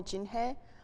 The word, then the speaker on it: Jinhye: the English name so if you can pronounce in Korean name you can call me Jinhae or my best friends